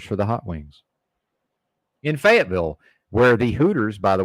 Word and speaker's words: Fayetteville: Cruise up to Fayetteville. Ridiculous pronunciation. It's not Louisville, people. They've turned. Why is Fayetteville now Louisville? Fayetteville. Ridiculous. I refuse to pronounce it that way. It's Fayetteville.